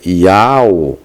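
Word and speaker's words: Ιαω: não faz em grego iao contém duas sílabas e se pronuncia iao ao que corresponde ao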